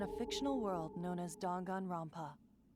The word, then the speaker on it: Danganronpa: took place within a fictional world known as Dongan Rompa. Okay, DONGAN. Gangan Rampa. What are you even talking about? Have I been prop pronouncing Dag and Rampa wrong this entire time?